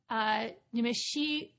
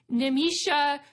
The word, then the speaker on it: Nimisha: On October 3rd, 2023, we have a talk from Nimishi. Oh my gosh. Sorry, I butchered that name. Nimisha. There we go.